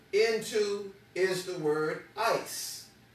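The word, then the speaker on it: εἰς: is not there now the Greek word that's there is this word called ice and it's spelled with three letters as the epsilon the iota and the Sigma and it's yes ice is how you would say it the word literally means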